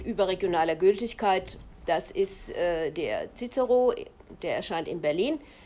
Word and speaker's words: Cicero: Das ist der Cicero, der erscheint in Berlin. Viele sagen Cicero, also englisch ausgesprochen.